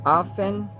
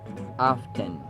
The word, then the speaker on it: often: follow his visitors gregarious often often how often do you pronounce often as often while either of the two is Actually acceptable or is used in American pronunciation often often yada yada